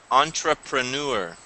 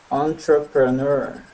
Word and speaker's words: entrepreneur: entrepreneur entrepreneur entrepreneur good now that word is really strange pronunciation in English because it's actually a French word so we're taking the French pronunciation that's why we we don't say Entre we say on on entrepreneur yeah it's French though that's why sometimes English takes words from other languages and then they copy their pronunciation um okay the other